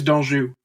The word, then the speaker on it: D'Anjou: Uh Donju Danju, how do you say your last name? It's uh it's it's Donju. Don French Canadian.